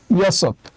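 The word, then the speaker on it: 여섯: Year জন্য আমরা নিলাম হচ্ছে প্রথমে ইয়ং থাকলে উচ্চারণ হবে না, তাই আমরা নিলাম হচ্ছে ইয়। আর এখানে আছে সিয়ত, সিয়তের স নিলাম, আর নিচে আরেকটা সিয়ত আছে, তাই আমরা একটা ত নিলাম, তাই উচ্চারণ হবে ইয়সত।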